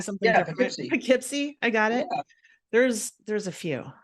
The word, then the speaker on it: Poughkeepsie: called Poughkeepsie I guess I was saying something Poughkeepsie I got it there's there's a few there's